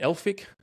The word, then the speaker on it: Elphick: We've got Jayden Elphick. That's how you pronounce it, Elphick, right?